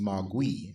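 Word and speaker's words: 魔鬼: In Mandarin, the pronunciation is Mogui.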